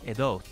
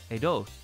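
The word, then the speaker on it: עדות: and it would be edot with the holonvav and atav but in the defective form you might see it as a dot same sound right same same pronunciation but the vav has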